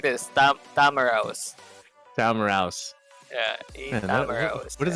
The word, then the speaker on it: Tamaraw: Just pronounce it like this. Tamaraw.